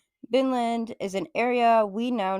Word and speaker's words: Vinland: So Vinland, also called Winland, but pronounced from the Vikings as Vinland, is an area we now know of as North America, more specifically along the coast of Canada.